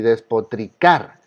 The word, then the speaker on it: despotricar: Y despotricar. Escuchen. Despotricar. Entonces la palabra más fuerte, la sílaba más fuerte es esta.